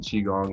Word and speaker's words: Qigong: I might be biased as a yoga and Qigong instructor.